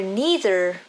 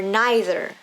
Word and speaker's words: neither: neither have flexible pronunciation you can say either or either or neither or neither both are correct it depends on which